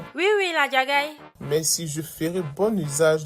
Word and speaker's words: Ladjagai: Ah, c'est comme ça qu'on prononce son ? Oui, oui, la djagaï.